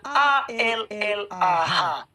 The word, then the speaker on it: Allah: Indonesia dengan benar maka tulisannya a l l a h bacanya Allah bukan ukjukan Aduh Oke